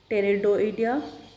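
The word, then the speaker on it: Pterioidea: और इनका जो ऑर्डर है वो टेरिडोइडिया, PTERIO आइडिया, तो इसको टी से प्रोनाउंस करते हैं।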